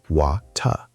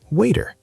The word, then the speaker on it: water: British people say water. Very clear T sound. Water. Okay. In American English, the T between two vowels often sounds like a D. Americans say waiter, like waiter.